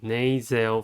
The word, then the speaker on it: nasal: The next one is nasal bone. Nasal has 2 syllables and the stress is at the first one.